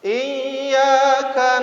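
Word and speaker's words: إياك: Iyyaka na'budu wa iyyaka nasta'in.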